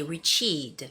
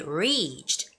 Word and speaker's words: reached: the word reached okay notice a difference when people make mistakes in Korea they would say reach eat reach eat and somehow makes it sound like you're putting the stress on the second syllable which is the second either but actually you don't make the sound for that II it has to be reached reach we have almost